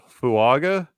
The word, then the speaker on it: Fuaga: Saints where's the N fuaga Are you seriously asking that or you You' be in there's there's no n in his name it's it's in the Samoan part of his name yeah Tois fuaga okay